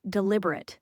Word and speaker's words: deliberate: That word is pronounced deliberate when it's an adjective with the stress on the second syllable. Deliberate. If it's the verb, it's deliberate.